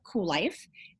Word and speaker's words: Kuel Life: I'm the CEO and the founder of Kuel Life, and that is spelled with a K. I know it's weird, but it's Kuellife.